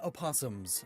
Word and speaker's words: opossums: spiel they are shakespearean opossums some people pronounce the oh some people don't i really like the